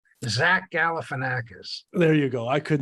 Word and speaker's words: Zach Galifianakis: Zach Galifianakis.